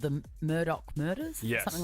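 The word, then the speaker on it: Murdaugh: as the stream Queen our self-proclaimed um the Murdoch prison Deb barkle that's been going on there's a Netflix documentary on it I think it's just called the Murdoch murders something like that I'm two Epsy and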